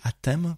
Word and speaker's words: Atem: On va parler, j'espère que je prononce bien, on dit Atem comme ça avec un E. Oui, Atem.